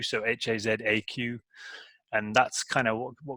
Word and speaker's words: Hazaq: Hazaq spelled with a Q, so Hazaq, and that's kind of what would you call it?